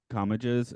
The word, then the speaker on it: Comages: So I just put like comma and then like Jizz because that actually is the correct pronunciation.